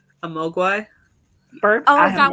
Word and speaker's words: Mogwai: Mowgli. I don't even know how to say that. Mogwai.